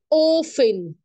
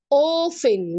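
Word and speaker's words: often: انا بعملها يا مس غالبا اوفن التي دي ما بتتنطق التي دي سايلنت اوفن يعني غالبا طيب ده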